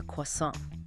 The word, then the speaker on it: croissant: Then luckily another customer nearby leans over and says to the cashier he means a quasant. Ah the local pronunciation and boom light bulb moment for the cashier suddenly totally understood.